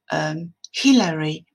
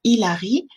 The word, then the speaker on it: Hillary: Par exemple, le prénom Hillary en anglais se prononce bien avec le son H. Vous voyez? Donc, si un Français prononce le prénom Hillary en disant Hilary, c'est un petit peu comme si j'appelais Caroline